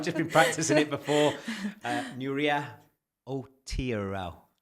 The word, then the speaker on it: Nuria Outeiral: Nuria Outeiral. Say it fast. Outeiral. Better, Nuria Outeiral. It's just complicated. It's fine. You said right.